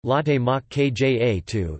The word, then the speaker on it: latte macchiato: Latte macchiato, Italian pronunciation, latte mach kja 2, is a coffee beverage.